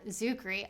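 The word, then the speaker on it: Czuchry: interviews with matt zuckery i learned how to say his name the c is silent i have no idea i've been a fan this entire time and it was just that easy to just remove the sea at the start but i'll dial it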